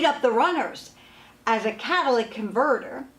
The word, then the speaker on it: catalytic converter: had often people say to me what's a Cadillac converter and why is this so expensive hi I'm at nipples on a service centre actually pronounced catalytic converter it serves as an important part of your